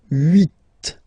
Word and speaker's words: huit: Then here, final T is pronounced, so huit, huit. Remember in French this H